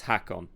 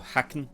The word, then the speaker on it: Hakon: Okay, so his name is Hakon. Not Hakon or Haken.